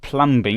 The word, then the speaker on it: plumbing: Plumbing. Oh yeah, it's it's a silent B again.